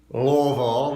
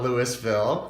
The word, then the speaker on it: Louisville: and by the way it's Louisville not Louisville for people who are